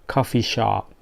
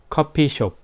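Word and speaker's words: 커피숍: that word like rent coffee shop but pronunciation is not coffee shop we called it copy shop copy shop ok ok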